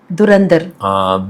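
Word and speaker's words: Dhurandhar: துரந்தர் movie ஆமா டில ஆரம்பிச்சதுன்னு இல்ல நீங்க அந்த சவுண்ட திருப்பி சொல்லி பாருங்க துரந்தர் து வருது ரா சவுண்ட் தான் அப்வர்ட்ல போகும். துரந்தர் துரந்தர் அதுதான் ஒலி சவுண்டு.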